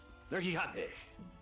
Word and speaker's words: Nergigante: You have to say it like that. Nergigante. Nergigante.